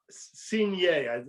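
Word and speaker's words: Cuignet: all the new investigator the chief investigator louis senior is how it's pronounced c-u-i-g-n-e-t quickly discovered if you remember the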